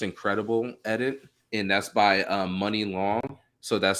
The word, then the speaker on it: Muni Long: Let's see, another one would be Hours and Hours, the Just Incredible edit, and that's by Money Long. So that's spelled Muni Long.